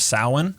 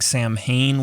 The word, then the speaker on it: Samhain: excuse me celebration of samhain looks like samhain when it's spelled out of course it does